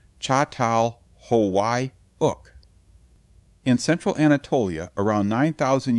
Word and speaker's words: Çatalhöyük: That layered home belonged to a place archaeologists now call Chhataluyuk, pronounced roughly Chhatal Hawaii.